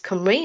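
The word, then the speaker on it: Cymru: Um for more than a decade we've been using admin data um initially produced by CFAS and more recently by CFAS Camry. note the pronunciation and um if you look at this list of questions you can see the scope of our work.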